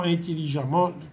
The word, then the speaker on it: intelligemment: par mm emt et le thème ici se prononce comme dans intelligemment contre 1 a violemment